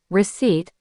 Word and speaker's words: receipt: Words like receipt, island, and debt are classic traps. You'll hear people say the P in receipt or the S in island. It's a natural mistake because the letters are right there.